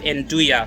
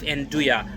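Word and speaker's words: 'nduja: Let me correct the correct pronunciation is beef anduja. So, just just for everyone's sake, it's it's pronounced beef anduja, like y a, anduja.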